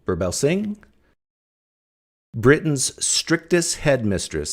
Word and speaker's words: Birbalsingh: She's uh Katherine Burbell Singh. Burbell Singh, Britain's strictest head mistress, says no one else dares to say about raising children.